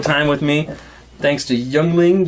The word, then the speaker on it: Yuengling: with me thanks to young ling yingling i always always want to say that just because the way it's it's spelled so we're gonna talk